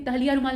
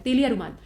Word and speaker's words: तेलिया रुमाल: देखिए तहलिया रुमाल नहीं होगा, यहाँ पे सही दिया है, ये यच लगा दिया है तो यहाँ पे प्रोनाउंसिएशन गड़बड़ हो गया है, तेलिया रुमाल।